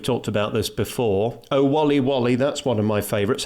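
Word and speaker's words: Waly Waly: Oh, Wally Wally, that's one of my favourites. How are we meant to say that? Whaley Whaley. Oh, Whaley Whaley.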